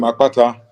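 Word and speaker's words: Akpata: p a t a the b spell their version of the name a k p a t a because in the B alphabet you have what they call expletives so the expletive KP is in my name but theas don't spell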